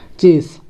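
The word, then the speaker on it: chase: हम देखें इस अल्फ़ाबेट को क्या बोलते हैं, सा एस से सा बनता है और ई का उच्चारण हमें लेना नहीं है, और इसका क्योंकि इसके बाद ई है इसलिए हमें क्या करना है, एक ही मत आएगी, तो क्या हो जाएगा, चेस।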